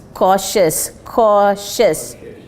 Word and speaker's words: cautious: Protect consumers are pronunciation are over cautious. Now I'm not getting it right. I'm not hearing it right. Cautious. The sh there, the sh.